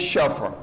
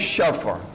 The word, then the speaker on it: شفع: ہو گیا ہے نماز شف، جس کو ہمارے بعض بزرگان بعض عزیزان جو کہہ رہے ہیں نماز شفع، جو عربی میں اس کا تلفظ ہے وہ نماز شفع، جب جیسا کہ قرآن